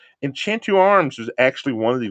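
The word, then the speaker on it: Enchanted Arms: a tactical style RPG, Enchantu Arms, because that's how they say it when you open up the game and you start the game out. Enchantu Arms was actually one of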